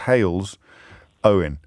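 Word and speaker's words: Halesowen: put hail's own brackets pronounced hails owen closed brackets and has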